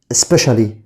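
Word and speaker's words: specially: خاصة دي اسمها سبيشالي، تاني كده سبيشالي. CIA هنا بننطقها بصوت الشا، كأنك انت بتقول سبيشالي يبقى CIA بننطقها شا.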